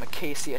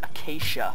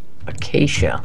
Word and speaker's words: Acacia: want that I'm also going to place some acaia trees down or actually I figured out it's pronounced Acacia Acacia ACAA it's the real way to pronounce it